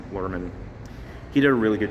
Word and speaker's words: Luhrmann: I think Braz Luhrmann, I think that's what his last name is pronounced, Luhrmann.